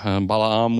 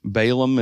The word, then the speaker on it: Balaam: But for more common words, I really struggled with like Balaam instead of Balaam. Balaam would be the correct way to pronounce it, but Balaam is the way that everybody knows it.